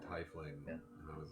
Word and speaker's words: tiefling: you told me that what I'm saying tiefling is is the accepted but it is spelled tightly yeah like TIE fighter yeah but I don't